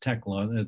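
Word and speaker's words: Tiglax: the fish and wildlife service the name is pronounced tecla that's a that's an alley name and just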